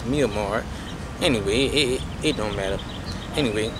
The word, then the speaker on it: Myanmar: In the country of Myanmar, right, some brothers pronounce it Myanmar. No, it's Myanmar.